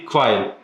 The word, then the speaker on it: Quail: Yeah, Quail. pretty good. Quail. With like an accent. Quail. Yeah, exactly. Si Quail. Australian accent. Yeah. Because Americans make it 2 syllables and get quail, but it's just.